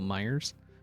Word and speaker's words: Meijer: Now say it right, even though there is no S, it's still Myers.